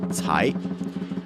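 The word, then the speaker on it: 财: The Chinese word cai, to pluck, sounds like the word for wealth, also pronounced cai.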